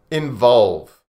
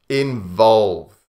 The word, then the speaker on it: involve: This is difficult because it has the V sound in it. Involve. Two V sounds. V. So with the V, V, V, we have to bite the bottom lip with our top teeth.